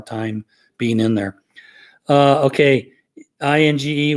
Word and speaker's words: Inge: Okay, INGE with a G hard pronounced.